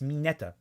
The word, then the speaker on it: Mineta: Well, is that how his name is pronounced in Japanese? No, it's Mineta.